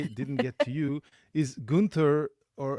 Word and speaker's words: Guenther: Is Gunther, or how do you pronounce your family name? It's Gunther. Just Gunther.